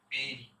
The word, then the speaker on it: bury: বেরি। আমরা বুড়ি বলবো না বা বাড়ি বলবো না, উচ্চারণ করবো বেরি।